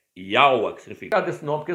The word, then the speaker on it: Jeú: Esse J aqui, ó, tinha conotação de I. Ele era pronunciado antigamente como I. Então é Yaua. Tá vendo aí, ó? Não é Jeú, é Yaua.